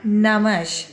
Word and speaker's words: namaz: Şimdi aslında bu namaz kelimesi namaj. O J harfi Arapçada olmadığı için Araplar İran'a giriş yaptıkları zaman, Farsça'ya hakim oldukları zaman bu J harfini Z'ye dönüştürüyorlar. Çünkü Arapçada J harfi yok.